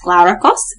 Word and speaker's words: Glaurakos: If you're confused on how to pronounce Glaurakos, it's Glaurakos. Glaurakos. Yeah. Kind of like Glower-kos.